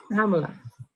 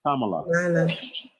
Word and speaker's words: Kamala: Kamala, you guys call her Kamala. It's Kamala. I just think use the word camouflage. Kamala. Use the word camouflage to get the first two syllables.